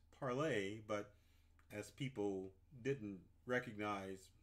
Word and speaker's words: Parler: it parley is it parlor it's officially started out as parlay but as people didn't